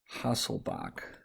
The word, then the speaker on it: Hasselbalch: to what we're going to call the henderson hasselbach we pronounce it bach but it's spelled bulk equation